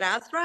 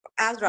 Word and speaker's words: Azra: And just a little bit for you, is it Azra? Is that how you pronounce Mhm. your name? Yep. Mhm. Azra, Yep.